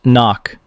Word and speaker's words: NOC: non-official cover, knock, pronounced knock.